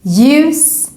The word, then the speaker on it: ljus: Also here, when we see a word with this combination, we just ignore the L and just pronounce it as J. For example, in these words, ljus, ljud.